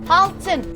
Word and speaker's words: altın: Gold is pronounced altın, and the builder misunderstood him and heard 6 minarets, which is pronounced altı.